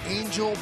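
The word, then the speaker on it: Engel: And in center field, yes, it's spelled E-N-G-E-L, but it's Angel Beltre in his first big league start.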